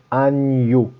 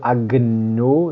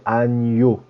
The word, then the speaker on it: agneau: faut savoir absolument l'écrire, surtout à cause de cette prononciation nie, agneau. Ça, c'est super important. Donc le N après le G, c'est toujours comme ça, nie. Pas de agneau, c'est agneau.